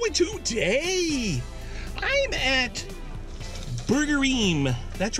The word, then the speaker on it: Burgerim: how's it going - today I'm at Burger eehm that's right burger eehm it's a restaurant a